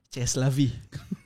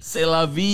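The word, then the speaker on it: c'est la vie: 2010 gimana tuh Iya Misalnya ceslavi Iya enggak selavi selavi dibacanya selavi terus k seraera Iya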